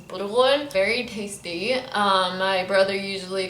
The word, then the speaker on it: burghul: We say it in Lebanese, burghul.